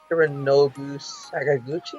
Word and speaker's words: Hironobu Sakaguchi: And it was made initially by, well, my Japanese is terrible, but I think it's pronounced Hironobu Sakaguchi.